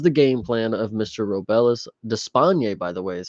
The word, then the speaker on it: Robelis Despaigne: Robelis Despaigne, by the way, is how you say it,